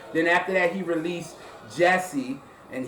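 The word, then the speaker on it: Djesse: Then after that, he released Jesse, and he actually spells it D, and then Jesse, but the D is silent.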